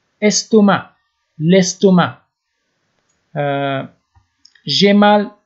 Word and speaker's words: estomac: انگلیسی هم میگن stomach اینجا هم قسم نشته میشه فقط اش آخرش نشته نمیشه ولی سه تلفظ نمیشه استومه لستومه جی مال ا